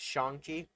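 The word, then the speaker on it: Shang-Chi: train i'm going to try to pronounce it's shanghi is the proper pronunciation us americans like to butcher that but it's shangji that's correct so i'm gonna try to keep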